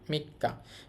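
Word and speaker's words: 三日: মি এটা হচ্ছে কা মিক্কা মাঝখানে ছোট সু আসার কারণে ডবল হয়ে গেছে উচ্চারণ মিক্কা মিক্কা হচ্ছে তিন তারিখ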